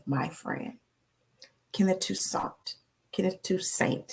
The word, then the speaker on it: Toussaint: Kenneth Toussaint. He used to say Toussaint, and I say, man, your name is Toussaint. He was like, how you gonna tell me how to pronounce my own name? It's Toussaint.